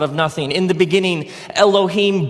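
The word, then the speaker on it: אלוהים: it would look something like this and it's pronounced Elohim let me hear you say Elohim in the beginning Elohim created the heavens and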